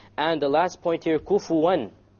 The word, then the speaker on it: كُفُوًا أَحَدٌ: And the last point here, kufuwan. How did we pronounce the noon there? Clear. Idhar, clear. Why? Because what is after it? Afterwards, The hamza.